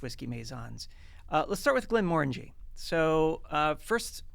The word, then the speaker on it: Glenmorangie: Let's start with Glenmorangie. So first, pronunciation. I always focus on the fact that it kind of rhymes with orangey, and also the more in the middle part. So it's Glenmorangie.